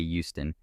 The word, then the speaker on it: Houston: the neighborhood south of Houston Street note that it is not pronounced like the Texan City but hey Houston is in my opinion